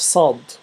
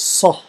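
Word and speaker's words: ص: Now after that we have sad. I don't think there is an equivalent English for sad, and it's pronounced as sah. It's like a thick S with sah.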